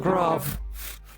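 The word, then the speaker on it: grav: It's G-R-A-V. Alright, so you know You pronounce it still grov.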